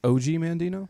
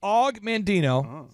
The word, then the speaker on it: Og Mandino: Is it not pronounced OG Mandino? This is Og Mandino, but he could have been an OG.